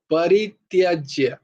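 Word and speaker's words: পরিত্যজ্য: রেখো এই উচ্চারণ গুলো পরিত্যাজ্য নয় প এর উচ্চারণ পই হয় পয় না পরিত্যাজ্য পরিত্যাজ্য মামেকম শরণাম ব্রজা অহং সর্বপাপেভ্য না তয়াই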